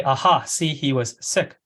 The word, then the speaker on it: Sikh: a Hindu or Muslim I say C although the probably the proper pronunciation is sick so he has a